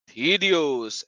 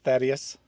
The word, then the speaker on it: Thaddeus: Yes, very close. Thaddeus is how you pronounce it. Thaddeus.